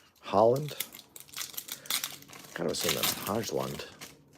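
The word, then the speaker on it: Højlund: Is that pronounced Hojlund or Holland? Holland.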